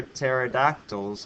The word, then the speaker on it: pterodactyl: can you not hear pterodactyls go to the bathroom because the P is silent pterodactyl starts to the